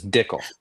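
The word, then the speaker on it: Dickel: like the vaunted George Dickle whiskey. It's Dickle. It sounds like tickle, but it's different.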